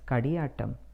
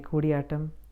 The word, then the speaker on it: Koodiyattam: For example, Koodiyattam is pronounced many times as Kadiyattam, Kootiyattam. It is just Koodiyattam. So, to my Malayali friends, എല്ലാവരും കാണുന്നതിൽ വളരെ സന്തോഷമുണ്ട്. ഇനിയും കാണുക, എന്നെ പ്രോത്സാഹിപ്പിക്കുക. May Koodiyattam flourish and go to